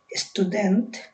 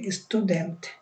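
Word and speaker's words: student: ইংলিশে হলে তো আমরা স্টুডেন্ট বলতাম ট দিয়ে, কিন্তু সুইডিশে উচ্চারণ হবে ত দিয়ে, স্টুডেন্ট, স্টুডেন্ট।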